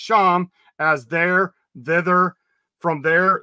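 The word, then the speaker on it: שָׁם: It says that this one's pronounced Sham, as there, thither, from there, thence, then as an adverb of time.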